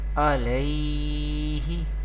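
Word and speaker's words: عليه: There is zabar before ya sakin, there is yadin, and we know that we pronounce yadin without stretching or without sudden pausing the voice.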